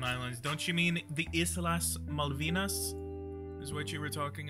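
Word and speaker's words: Islas Malvinas: back the Falon Islands don't you mean the isas malvinas is what you were talking about if you're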